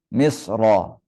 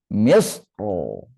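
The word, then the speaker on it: مصر: Misra. Misrah di sini boleh tafkhim, boleh tarqiq, tapi tafkhim lebih utama. Jadi contohnya kayak gini. Misro. Misro. Kalau tarqiq bacanya misr. Tapi lebih utama baca tebal. Misro.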